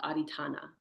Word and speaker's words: adhitthana: And the one we're on now, determination or resolve, is called adhitthana.